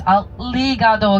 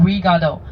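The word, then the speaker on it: ありがとう: this word you got to make sure your pronunciation is right. Especially the second character is aligado. Okay. Aligado. I don't want to hear anyone sayado. Alrigado.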